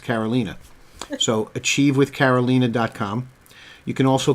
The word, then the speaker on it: Carolina: And by the way, it's spelled Carolina, like Carolina, but it's pronounced Carolina.